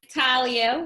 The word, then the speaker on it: Tahir: Actually, it's Talia.